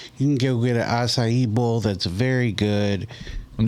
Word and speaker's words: acai: You can go get an acai bowl that's very good. I'm just happy you said SIE right. You know, so many people don't know how to say it. They're like, I'm getting a Kai bowl.